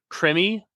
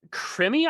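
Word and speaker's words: Krimi: what are they called so crimmy I believe is pronunciation okay k r i m i uh interesting okay and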